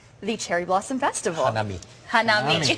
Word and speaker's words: hanami: Hanami.